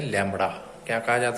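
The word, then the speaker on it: lambda: Is denoted by symbol, this symbol, and pronounce as लैम्बडा।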